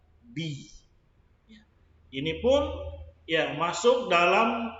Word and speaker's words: بِ: Al-ba'u. Kita bacanya bi.